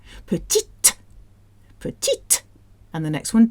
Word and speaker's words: petite: Petite.